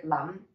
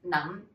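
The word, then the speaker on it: 諗: and to be honest this is one that i was surprised to find was an n sound because i've never heard it pronounced as mam mid-rising num i've never heard that i always say lam and olam is i think you think something right so this one is num properly so a lot of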